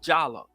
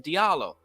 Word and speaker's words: Diallo: We went to the same school, and his name was Diallo too, but he pronounced it Jallo instead of Diallo.